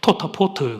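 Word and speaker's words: טוטפות: 표라고 하는 히브리어 단어의 원어는 토타포트 그렇게 발음되는데 지금 우리는 이걸 테필린 그렇게 부릅니다.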